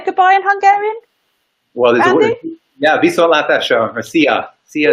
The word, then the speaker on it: viszontlátásra: Well, viszontlátásra, or see ya.